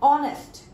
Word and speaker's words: honest: So I have written A here, but sound is coming honest. Honest. Honest sound तो नहीं आ रही ना? We are not going to pronunciate it like honest.